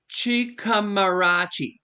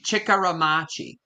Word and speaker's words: Chikaramachi: Yeah, it's there's no R after the M A. So it's Machi. Chickar machi. Chikaramachi.